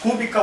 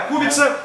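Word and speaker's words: Kubica: Porque em português a gente lê e fala cúbica porque tem o C lá. Mas essa letra no cirílico, no alfabeto cirílico, que polonês também é cirílico, como os países usam alfabeto cirílico, russo, Sérvia, Croácia, essa letra é é em russo é S, que a gente chama o C de S. Tem som de s, mas nos outros países é ts.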